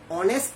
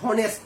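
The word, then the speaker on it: honest: এই শব্দটা কি আছে, অনেস্ট ম্যান না হনেস্ট ম্যান, নিশ্চয়ই অনেস্ট ম্যান।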